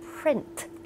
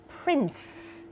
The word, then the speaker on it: print: มาก นะ คะ ต้อง Print Print ใส่ T ออก มา ให้ ด้วย ที่ สำคัญ อย่า ลืม ตัว R อื ไม่ ใช่ ปิ